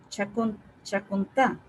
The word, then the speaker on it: Chacontá: Chacontá, que tiene acento en A, Chacontá también es otro libro colombiano bueno, referente a carreteras.